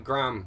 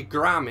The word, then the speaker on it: Graham: Because Americans apparently call him Graham. Because this is a weird thing, right? Americans say Graham instead of Graham and Craig instead of Craig.